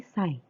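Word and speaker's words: 際: Nah, bentuk pola selanjutnya ada nani sai. Di sini dibacanya sai ya.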